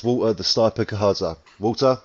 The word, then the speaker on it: Gahadza: Did I just to double check, I pronounced your surname right here, is it Gahadza?